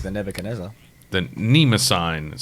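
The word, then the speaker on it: Mnemosyne: The Mnemosine, but it starts with an M, as in mnemonic.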